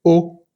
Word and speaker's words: aux: les étrangers, sino que el a más el le se va a convertir en o. Se escribe siempre AUX. Y como la siguiente palabra comienza por vocal, pues vamos a hacer siempre la liaison.